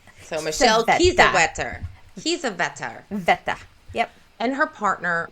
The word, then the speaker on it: Kiesewetter: It's a warm spring day with two police officers, 22-year-old Michelle Quezawetter. Well, Quezawetter. here's a little. I did Google that. Well, it's Kiesewetter because the W's in German are pronounced as a V.